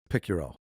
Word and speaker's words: Picciurro: Welcome to Keep Hustling with my guest, Picuro.